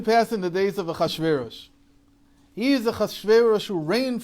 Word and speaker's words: Achashverosh: Achashverosh. Nope. Achashverosh is how we say it. They say it Artaxerxes.